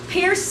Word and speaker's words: pierced: And like I said, you just got to trust me about the Old English here. Pierced has two syllables.